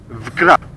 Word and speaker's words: Wkra: Vkra.